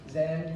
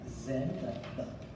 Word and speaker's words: then: The Zen, not Zen, but stick your tongue out for the pronunciation of the TH. We stick our, not Zen, Then. You stick your tongue out.